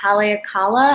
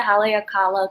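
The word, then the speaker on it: Haleakalā: taken in maui at haleakala i think it's how you pronounce it haley akala crater um yeah so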